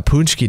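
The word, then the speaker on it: pączki: to say that it's punchy day yeah and so that's a word that's not spelled like it sounds either that's like hockey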